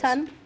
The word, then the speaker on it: Tun: And whereas Tun Tavern, is that how you pronounce it, That's Tun?